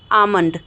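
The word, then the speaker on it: almond: एम काम होता है तो काम बाम पाम आमंड ठीक है तो हम यहां पे क्या कर रहे हैं दोस्तों हम प्रोनाउंस नहीं कर रहे हैं एल का तो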